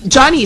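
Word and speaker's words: Deonie: you spell your name Johnny is here with us it's pronounced Johnny but you spell it how yeah well it's spelled D e o n i e and it's pronounced d o n i yeah so most locals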